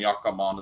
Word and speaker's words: jatkamaan: And so like jatka is the dictionary infinitive, and jatkamaan is literally Jatkamaan. jatkamaan. Yeah, Jatkamaan. and the yeah, the two A's indicate you pronounce it for longer.